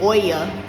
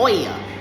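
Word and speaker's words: Oia: So, and then I was saying oya and it's o i a oa pronounced.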